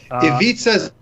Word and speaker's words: Ivica: I'll mess up the pronunciation of his name, like Ivan Zubac, right? Ivica Zubac.